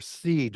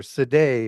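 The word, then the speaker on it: Sidhe: These are the Shea people. S I D H E or Seed or Seday or it's pronounced 100 different ways.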